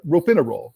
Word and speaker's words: Ropinirole: She says she was not, is it Ropinirole, or do you know how to pronounce that? Ropinirole, that's it. Ropinirole. She said she was not warned by the doctors about any side effects.